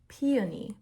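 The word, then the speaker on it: Pioni: um and this is in the shade peion but they spell it like p i o n i um and what is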